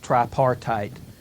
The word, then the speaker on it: tripartite: They kept throwing out the word tripartite today because, it sounds cool. Yeah. That means 3-party for those of us who generally conduct our lives in English. Notice it rhymes with apartheid.